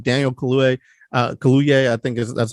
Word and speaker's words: Kaluuya: It's also good to see like Daniel Kaluuya. I think that's how you say it. I want to make sure I'm saying it right. Kaluuya.